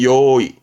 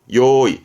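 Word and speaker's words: 用意: 뭔가 준비성이 철저한 사람이거든요 그래서이 한자는 준비를 의미합니다 발음은 요이 요이 그래서 요이 스는 준비하다 잘 씁니다 요거는 득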